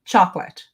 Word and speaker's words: chocolate: In English, I say chocolate. chocolate, two syllables.